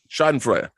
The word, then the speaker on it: Schadenfreude: How do you pronounce that in German? Schadenfreude.